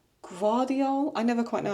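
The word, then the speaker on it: Gvardiol: Guardiol. It's like a slight V. Guardiol.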